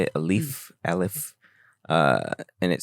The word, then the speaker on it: Aleph: Aleph.